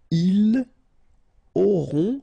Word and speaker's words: auront: Then, ils auront, final T not pronounced, O-N together, on, auront, okay, and then the link between the two, ils auront, elles auront.